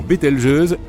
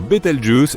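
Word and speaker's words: Bételgeuse: Quant à la manière de prononcer correctement Betel jeuse, tu peux le faire comme bon te semble. Tu peux même dire Betel Juice si tu en as envie.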